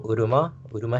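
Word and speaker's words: Uruma-shi: Oh, Urumashi?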